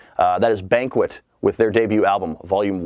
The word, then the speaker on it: BNQT: It is from a group called Banquet, and they spell that BNQT.